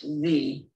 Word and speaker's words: ye: The letter Y in ye represents a letter we no longer have in our alphabet, which takes on the sound as in thee or that. Ye should be pronounced thee.